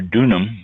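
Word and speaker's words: Donum: 37 years and founded donam in 2001 uh donam or dunam d o n u m dunan I guess is considered to be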